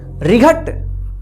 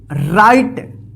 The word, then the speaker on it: right: रिघट या रिघट, गलत हो जाएगा। इसको क्या पढ़ेंगे? राइट।